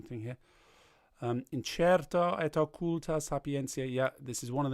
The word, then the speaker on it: incerta et occulta sapientia: Don't sing it like that. In the actual stress is on incerta et occulta sapientia. So incerta et occulta sapientia.